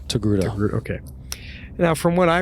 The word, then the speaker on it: Togruta: Is that how you say it? Togruta? Yes, Togruta.